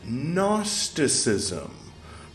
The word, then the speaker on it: Gnosticism: If it's the first time you've heard it, write it down phonetically if you want. It starts with a G.